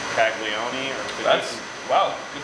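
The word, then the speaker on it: Calagione: Bones and I went to a little beer talk in Austin by Sam, I'm going to mispronounce his name, Caglione, or That's, wow, good pronunciation.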